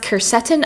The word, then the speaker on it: quercetin: I'm always nervous to say things wrong, but it's pronounced quercetin.